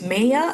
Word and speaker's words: Mayer: I don't know how or if other people pronounce it as maya. I don't know, but it's Maya just as you see it.